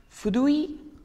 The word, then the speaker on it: fruit: In English, it's fruits, and in French, it's fruit.